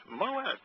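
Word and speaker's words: מועד: Now, can you tell me what MWD, how you would pronounce that? Moed? Moed? Moed. Moed.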